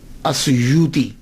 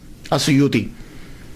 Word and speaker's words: السیوطی: ایک ہے السیوطی، آسویوتی، الف کے اوپر زبر، شروع میں الف ہے، السیوطی، ابن القطب اور الشاذلی، یہ 3 ٹائٹل ہیں۔ یہ جو السیوط ہے نا، اس کے تلفظ میں 2 باتیں قابل غور ہیں۔ پہلی بات تو یہ ہے کہ اکثر الف چھوڑ جاتے ہیں، سیوطی کا، علامہ جلال